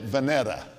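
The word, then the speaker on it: Vinita: her after venita and they pronounced it vanetta amen and the first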